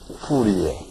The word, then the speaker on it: Fourier: But we pronounce it Fourier.